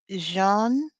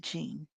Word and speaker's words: Jeanne: let's say her name Marie Jean or is it Jean I'mma say Jean because it's French Marie Jean La martiner